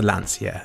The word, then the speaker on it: Lancia: to the lanture and not the Lancia as Jeremy Clarkson pronounces It Anyway Lancer was a